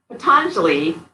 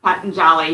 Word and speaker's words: Patanjali: Patanjali, or Patanjali, his name is pronounced several different ways, was an Indian sage who wrote the Yoga Sutras, which are kind of like the guidebook for yoga.